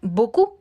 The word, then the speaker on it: beaucoup: ejemplo con la palabra beaucoup. Quiere decir mucho. En este caso, yo les propongo la expresión j'ai beaucoup de travail, que quiere decir tengo mucho trabajo. Beaucoup, no pronuncio la P al final.